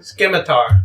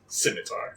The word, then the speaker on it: scimitar: want to Sil please tell me how to pronounce simitar skar no simitar now it's forever going to be known as